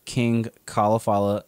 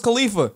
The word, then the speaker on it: Khalafalla: all social medias at kingcauliflala that's k-h-a-l-a-f-a Double L A you pronounce it as cauliflower yeah I thought it was Khalifa no I have people